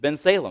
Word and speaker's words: Bensalem: He said, Bensalem, and I said, that's it, huh? Okay. My wife is from Salem, Oregon, so just put Ben in front of it, and it's real simple, and it's good to be here.